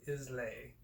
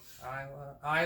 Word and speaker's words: Islay: distilled by ardbeg distillery and the isle of islay it's like no all right all right i already pronounced it wrong huh nicely i don't know kylie isla isla there we go isle isle of isla